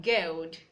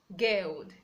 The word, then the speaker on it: guild: We have guild, guild. The U is silent in that word.